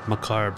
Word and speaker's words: macabre: They're a bit macabre, aren't they?